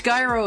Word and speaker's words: gyro: It's Gyro. It's Skyro. It's Guyro. It's Skyro. It's Gyro. Guyro. It is Guyro. I know how the English language works.